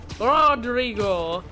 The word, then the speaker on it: Rodrigo: Rodrigo! I can't quite roll my R's. Max, you do it better than I can. Can you come over here and roll your R's?